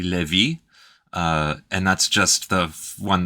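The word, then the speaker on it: Lévis: it's not great either Levis is actually Levy and that's just the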